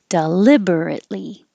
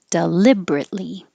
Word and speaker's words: deliberately: one has two options you can say it with more syllables deliberately five deliberately or four syllables deliberately either one horizontal or you